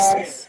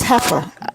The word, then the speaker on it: heifer: Haifa. It's Yeah, Haifa. I think she just. No, it's heifer. I pronounced it correctly. I said heifer.